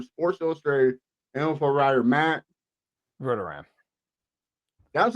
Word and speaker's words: Verderame: So there's like 3 different pronunciations that are essentially correct. So, yeah, Verderame is fine. That'll work.